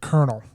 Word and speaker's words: colonel: but how the is Colonel pronounced colonel yeah and Bologna call an L and Bologna